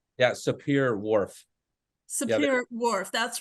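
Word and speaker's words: Sapir-Whorf: right again I said wrong yeah Superior Wharf Superior Wharf that's right uh hypothesis could you tell us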